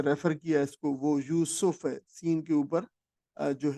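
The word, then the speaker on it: یُوسُف: ذہن میں رکھ لیجئے۔ تو یوسف عام طور پر رکھا جاتا ہے، کہا جاتا ہے، لیکن قرآن مجید کا جو تلفظ ہے اس لفظ کا وہ یوسف ہے، سین کے اوپر جو ہے وہ پیش ہے، یوسف۔ تو یہ قرآن مجید،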